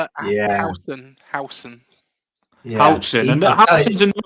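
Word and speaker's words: Huijsen: Housen.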